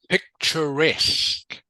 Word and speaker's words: picturesque: I don't know okay picturesque picturesque can you say that picturesque good picturesque it sounds like it's got a K on the end to rest can you